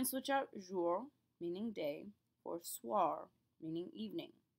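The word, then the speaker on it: soir: or swar meaning evening the key to pronouncing this is that oi the oi combination in French will always make a w sound B here how it kind of sounds like a w swar it's a very very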